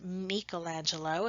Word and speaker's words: Michelangelo: use of linear perspective now michelangelo or sometimes michelangelo if you're pronouncing it like the italians do was a painter sculptor